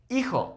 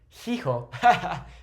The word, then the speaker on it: hijo: Hijo or hija. Remember that in Spanish, we don't pronounce that H, okay? If it's coming at the start, we don't say hijo, we say hijo, okay?